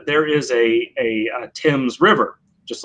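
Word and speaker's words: Thames: is a well-known word that is pronounced tim's not veins yeah so it's definitely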